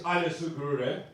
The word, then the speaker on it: Anesu Guru: But guys, my name's Anesu Guru, and if you can't pronounce that, don't worry about it.